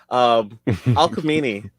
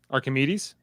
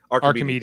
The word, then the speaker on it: Archimedes: Alchemini. Archimedes? What's the name of the ship? Archimedes. Okay. It's the Archimedes.